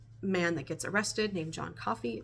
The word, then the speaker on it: Coffey: And there's this one man that gets arrested named John Coffey, like the drink, only not spelled the same.